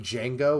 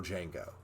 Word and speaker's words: Django: to is the original Django uh that's pretty cool yeah so that's why what he says like the D is silent he says I know